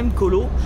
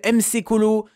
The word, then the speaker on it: Mkolo: Voilà, je pense que je le prononce bien, Mkolo. Eh ouais, putain, et ça fait plaisir parce que les gars, le nombre de personnes qui m'appellent MC Colo, Mac Colo, putain, quand on m'appelle Mkolo, tu sais que vous êtes...